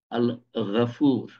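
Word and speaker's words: الغفور: আল্লাহ গফুর, গ দিয়ে আছে, গফুর হওয়া উচিত, কিন্তু গফুর, গও না ঘও না, আল গফুর।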